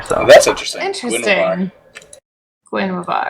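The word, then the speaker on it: Guinevere: My brother says Gwenavar, which is there's a little WV action in there somewhere. So that's interesting. Guenavar.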